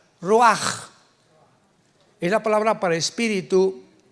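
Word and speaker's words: רוח: Pero la ch en el hebreo se pronuncia como j. Roaj es la palabra para espíritu en hebreo.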